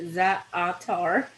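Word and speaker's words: za'atar: Zatar. Okay. I even put my little pronunciation there. Zaatar.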